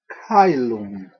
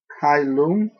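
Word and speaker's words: caelum: double vow which is pronounced I as in the English long I sound as in the i in like kyum sometimes if you say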